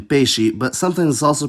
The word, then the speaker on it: peixe: It’s a bit weird, most of the time it’s pronounced [ʃ], like in peixe, but sometimes it’s also pronounced [s], [z], or , like in explodir, exato, or fixar.